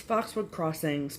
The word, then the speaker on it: Foxwood Crossings: It's Foxwood Crossings, plural.